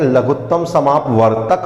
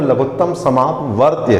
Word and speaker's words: लघुत्तम समापवर्त्य: यहां देखिए हम कि बहुत सारे लोग लघुत्तम समापवर्त्य को गलत उच्चारण करते हैं लघुत्तम समापवर्तक बोल देते हैं सही इसका उच्चारण वह लघुत्तम समापवर्त्य है और महत्तम मैं